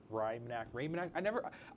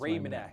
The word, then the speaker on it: Raymanak: Would we like to talk about Kenny Gerard, Emily Mike, and Hunter Raymanak? I always feel bad because I always say his last name wrong. It's Raymanak. It's Raymanak. Raymanak, but Yeah.